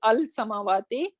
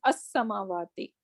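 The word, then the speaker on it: السماوات: starting with Shamsi letters, then we are not going to pronounce this lam. Rather, we're gonna say as-samawati. So it is going to take a kind of shadda over here, because we are not pronouncing this lam. We are not saying al-samawati, rather we are saying as-samawati.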